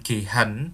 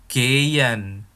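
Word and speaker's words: gehen: Oh ya lihat ya pelafalannya bukan gehan tetapi Gyan karena hal di tengah itu enggak dilafalkan ya pelafalannya itu Giant ginsi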